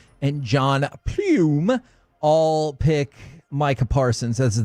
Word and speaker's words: Pluym: And by the way, Corey, you judged me with the way I said John Plume. It's spelled Pluym.